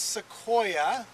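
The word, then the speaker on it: Sequoia: scientific name and um the genus is seoa that's spelled s e quu i a s e quo I a SEO and that's named after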